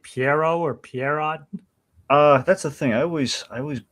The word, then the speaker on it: Pierrot: I think it's Studio Pierrot. Maybe Studio Pierrot. Not sure. Anyway, okay, so well, apparently, according to their romanization, it is pronounced Piero. Piero.